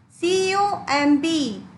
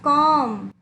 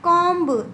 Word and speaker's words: comb: Dear student, see, C-O-M-B. Here the correct pronunciation is comb. Some students pronounce it comb. It is not comb, it is comb. B is always silent here.